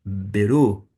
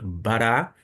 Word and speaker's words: bará: deve estar observando que vai haver uma mudança vez ou outra na pronúncia. Neste caso aqui, nós temos literalmente beru, beru, nós lemos frequentemente bará, mas ele pode eh ter algumas vogais diferentes e, por isso não